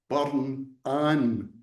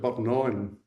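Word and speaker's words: Burn Anne: Now the the burn that flows through the center of Goldman is called burn an but the locals don't pronounce it that way. They pronounce it burnon.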